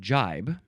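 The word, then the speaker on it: gibe: It is spelled g i e or you can replace the g with a j. So these last few words could be pronounced g or j but they were only spelled with a g. But this one is spelled with a g or a j and is only j verb from um 1567.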